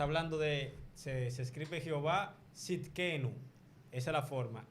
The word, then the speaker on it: Sidkenu: Hay Hay uno que es cuando dice Jehová nuestra justicia en Jeremías 23:6, que está hablando de, se escribe Jehová Sidkenu. Esa es la forma. S-I-D-K-E-N-U.